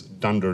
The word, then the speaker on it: dunder: under name under under or as I always pronounce those things Dunder name Dunder name the global is loaded